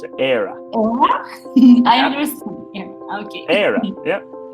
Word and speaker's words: Éire: but the pronunciation is Éire. It's almost like Éire, like aire, but no. So Éire. I don't know how, but that's how you pronounce it. Éire.